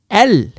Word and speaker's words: elles: Elles sont. Now this one is silent.